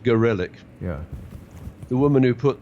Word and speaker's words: Gorelick: Well, in the 1990s, Janet Reno, Jamie, I like to pronounce her name Gorlick, but I think she prefers it to be pronounced Gorelick.